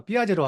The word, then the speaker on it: 피아제: 제가 발음 녹음한 거 들어보니까 삐아제로 하더라고요. 삐아제가 피아제다.